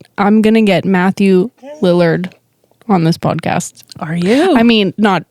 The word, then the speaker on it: Lillard: with me pronouncing things I have always said Matthew Lillard mm-hmm that's not correct I don't think cuz you you just checked yourself I did just check myself I Google how do you pronounce and I think it's Lillard I'm gonna call him talk